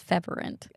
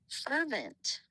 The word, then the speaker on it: fervent: The word is spelled f e n t. Fervent. Come on. She's saying fervent. Yeah, she's saying fervent. Yeah, but we thought it was feverant.